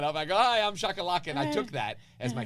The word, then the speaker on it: Shahe Koulloukian: So open mic, ladies and gentlemen, introducing Shahe Koulloukian. He butchered my name. Right. And I was like, all right, not a big deal. So I got up. I go, hi, I'm Shahe Koulloukian.